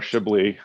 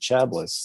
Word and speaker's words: Chablis: toasting this classic um okay a little more shibly oh okay you mean the uh the chablis